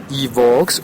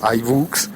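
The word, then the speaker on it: iVoox: también tengo podcast en evbox o ibook Depende como lo quiera pronunciar es una plataforma que seguramente como es tan fuerte en España seguramente tod todos allí le dirán evx eh con v I V o o x eh allí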